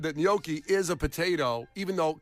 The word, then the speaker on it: gnocchi: I leaned into the G. Turns Yeah. out that was some incorrect. gnocchi.